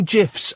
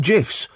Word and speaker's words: GIF: could be part of the and I know gifs are like so 2005 but um oh it